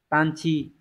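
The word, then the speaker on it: 探知: thám và chữ Chi từ này đọc là tan chi tan chi này có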